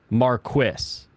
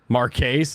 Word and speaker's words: Marquis: The British pronunciation of Marquis is Marquis. It's very, very weird sounding though. Zex Marquis, exactly. Marquise, no.